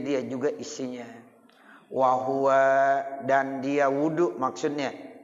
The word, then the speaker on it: وضوء: Nih makanya saya sampaikan di sini ya furudul wudu sama dengan arkanul wudu. Dia juga isinya. Wahwa, dan dia wudu maksudnya ya bidomil wawi, wawunya didomakan, wawunya didomakan, wudu.